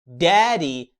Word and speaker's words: daddy: لو خدت بالك هتلاقيني نطقت الدي الاولى قويه وواضحه قوي. ليه؟ عشان هي ما وقعتش ما بين صوتين متحركين، فمش هتتنطق لايت دي. انما الدي الثانيه وقعت ما بين صوتين متحركين short A و long E، وبالتالي هتتحول لصوت اللايت دي وتقول daddy.